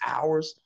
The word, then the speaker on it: hours: saying that it was hours. Like, what the fuck, man? What the fuck y'all doing? Why did y'all have to put the H's there for, and the H is silent?